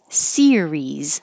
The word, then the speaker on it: series: serious but number 14 Series has two syllables stress on the first syllable series and remember keep your tongue very high very tense because it's the same vowel in both parts series and 15 has